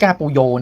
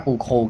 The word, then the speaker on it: Pujol: กอง หลัง นะ ครับ เอก ปูโย นะ ครับ หรือ ว่า อ่าน ว่า ้า ปู โค ก็ ได้ นะ ฮะ ถ้า อ่าน แบบ ภาษา สเปน นะ ครับ ตัว นี้ เป็น